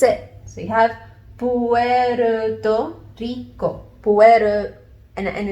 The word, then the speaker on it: Rico: You just have a teensy bit of a different pronunciation, again, because of the R.